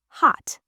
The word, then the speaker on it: hot: Take the word hot. We don't usually say hotter with a big explosion of air. We say hot. stops abruptly, you cut the sound in your throat.